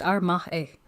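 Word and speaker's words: 甘え: The first word is Amae, pronounced Amae.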